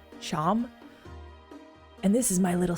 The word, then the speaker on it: Seam: The name Seam, pronounced Sham. Sham?